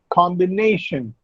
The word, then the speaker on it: combination: Combination. Ne comes before the last syllable. So, ne is the penultimate syllable.